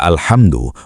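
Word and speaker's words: الْحَمْدُ: Kata alhamdu menggunakan huruf H halus dari tengah tenggorokan. Jika diganti menjadi kha, alhamdu artinya berubah dari segala puji menjadi kematian atau kehancuran.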